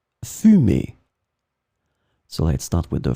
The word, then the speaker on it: fumée: In this lesson, we will see together two words that are written differently but pronounced the same way. Fumer, fumer.